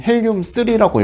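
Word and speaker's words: 헬륨-3: A는 그래서 읽을 때는 헬륨 3라고 읽어요.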